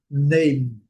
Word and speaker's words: name: O M do inglês, no final da palavra, é diferente do português. No início é igual praticamente, mas no final é diferente. Ele a gente fala terminando a palavra com a boca aberta. Em inglês a gente termina a palavra com a boca fechada.